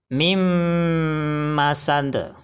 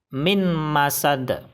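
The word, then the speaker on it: مِن مَّسَدٍ: Bacaan yang benar adalah mim masand. Mim masand. Kesalahan baca yang pertama adalah mim masand. Salah. Karena bacanya harus disertai dengung. Kesalahan baca yang kedua adalah min masad.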